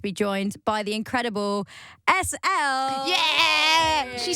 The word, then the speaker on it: ESSEL: appreciate that you're welcome SL right yeah people say elel how really really it's